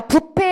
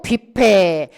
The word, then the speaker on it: 뷔페: 것들이 틀려 있더라 자 부패 아니고 뷔페 애들이 반이고 애들이부로 가고요